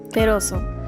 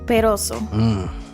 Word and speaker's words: Perozo: Perozo. See, I can't even pronounce that right. Perozo. See, now you said it American way. Now say it with the actual Latin. Perozo. The sazon. That's how you say it.